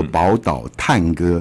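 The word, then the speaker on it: 寶島嘆歌: 这样子，他的这个华语念作《宝岛探歌》，叹气的叹，歌曲的歌，对。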